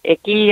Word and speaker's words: Icke: Well, I don't know if you are familiar with David Icke or David Icke, I guess. It's like I've heard it pronounced both ways, I-C-K-E.